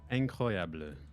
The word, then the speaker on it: incroyable: Say incroyable. Incroyable. Yeah. Is that close? Yeah, it's pretty close.